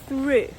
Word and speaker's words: through: Наприклад, я розумію, що декому тут би сподобалось вимовляти це слово як сру, але guys, це не сру. Ставимо язичок між зубки і вимовляємо through.